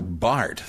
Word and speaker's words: Barth: There is a difference between Karl Barth, the theologian, a Swiss theologian whose name is spelled B-A-R-T-H, but pronounced Bart, and Roland Barth, who